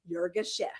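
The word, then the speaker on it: Yirgacheffe: Jurgashef. Jurgashef. Okay. I pronunciation here in the South.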